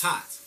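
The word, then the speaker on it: Thoth: God taught or looks like thought but it's pronounced taught and that's the that God is the moon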